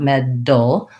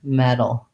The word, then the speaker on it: metal: d too hard you don't want med dull but rather metal metal same for all of